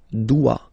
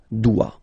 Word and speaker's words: dois: Okay, remember final S is not pronounced. Je dois. OI, when you combine the two, you get the sound wa wa wa. Je dois.